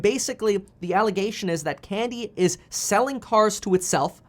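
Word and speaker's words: Kandi: another expose saying that candy a chinese manufacturer of electric vehicles that's spelled k-a-n-d-i said that 60 percent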